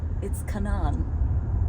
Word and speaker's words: Canaan: And yes, it's Canaan. I know it's spelled Canaan.